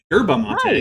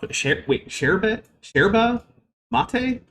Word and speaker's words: yerba mate: Yerba mate is Nice. apparently how it's supposed to be pronounced. Fair enough. Sherba mate? Hey, if you say so. That's not how I would ever pronounce that word, just based on how it's spelled, but I guess it's yerba mate.